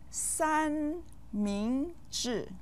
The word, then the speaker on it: 三明治: 三 with the first tone, 明 with the second tone, and 治 with the fourth tone. You might eat one 三明治 or more each week.